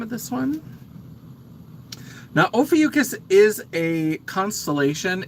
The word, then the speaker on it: Ophiuchus: Now, Ophiuchus is a constellation.